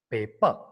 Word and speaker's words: paper: The first P is aspirated, whereas second P is not aspirated.